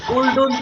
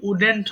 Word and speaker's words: wouldn't: পড়বো, কিন্তু নেগেটিভটা কেমন, এটাকে অনেকে ভুল করে ওল্ডন্ট বলে। শোনো, শব্দ হচ্ছে কোথায়। আচ্ছা, তারপরে এটা কিন্তু উডেন্ট হবে, হ্যাঁ, এটা কিন্তু উল্ড হবে না, এটা হবে উডেন্ট।